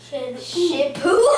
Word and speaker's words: 食物: Shipu.